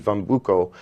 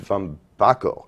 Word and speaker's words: Van Bacco: A great drummer by the name of Pete Van Bucco, who is also, I just mispronounced his name, it's Pete Van Bacco, and a great drummer, and he'll be honored.